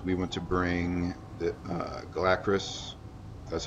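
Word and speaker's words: Galakras: So here the idea is we want to bring the Galacris, that's how you pronounce it, down.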